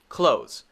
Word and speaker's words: clothes: is sometimes confusing because people want to say this as a syllable actually it's not this is a one syllable word this is a one-syllable